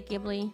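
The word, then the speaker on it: Ghibli: of ji movies Ji normally I would say gibli in German we say gibli but it's in Japanese it's jii so I guess it's jibli yeah the boy and the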